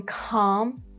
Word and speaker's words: calm: For example, in calm and almond, Americans may prefer calm and almond, but mostly you would hear calm and almond.